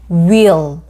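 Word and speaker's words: wheel: 바퀴 모양을 우리가 wh eal이라고 쓰고요는 우이가 이러 will will 바퀴를 말합니다 속사이다 wp 여기에는 그죠 S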